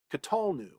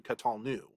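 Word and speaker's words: qatalnu: that also happens in the one cp katalnu rather than catalu so again if you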